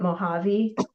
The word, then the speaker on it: Mojave: That's how you say it. Mojave.